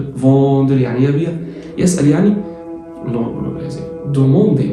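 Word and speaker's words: vendre: بص الأو ان اون تبقى فوندر يعني يبيع.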